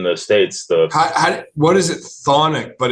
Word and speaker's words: Chthonic: Yeah, it's CHTHONIC, but they pronounce it. Well, I've heard you can pronounce it chthonic, or you can say thonic. And whenever Freddie, the singer, says it, he says thonic.